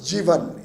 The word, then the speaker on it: Jivan: And Jivan, it's pronounced Jivan in UAE.